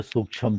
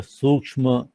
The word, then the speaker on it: सूक्ष्म: सब पंजाबी हो तो सूक्ष्म बोलते, हम लोग संस्कृत निष्ठ व्यक्ति हैं तो सूक्ष्म जो सही इसका उच्चारण है भाई मैं करूंगा।